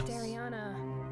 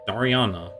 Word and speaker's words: Dariana: name right I mean I think I've been pronouncing a bit differently before this game I think it was like Dar Daria Dara but yeah it's Dariana I'll tell you what